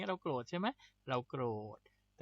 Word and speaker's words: โกรธ: ธ ธง นะ ครับ วิธี การ สะกด ก็ คือ ก ไก่ ร เรือ เนี่ย เป็น ควบ กล้ำ นะ ครับ ก ร เวลา เรา สะกด ก็ คือ ก ร นะ โกรธ โกรธ คือ อะไร ก็